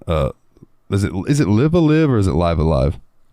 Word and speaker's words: Live A Live: uh and Jeremy real quick Jeremy okay it's live alive oh is it okay yeah uh well then